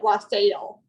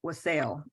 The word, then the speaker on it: wassail: I've also heard people pronounce it wassail. Okay. Yeah, when we moved up here to the north, I'm from Texas, and when we moved up to the north, everybody here calls it wassail.